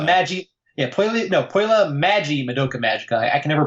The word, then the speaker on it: Madoka Magica: koyla Madoka Michaela Maggie yeah nope whele Maggie Madoka Magica I can never pronounce it right the first time Luca Magoo